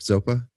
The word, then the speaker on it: Zopa: super rad band called zopa um am i pronouncing that correct zopa zopa is the my middle name dharma name